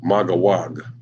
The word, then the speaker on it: Magog: Then, of course, you got Magog, pronounced Magawag.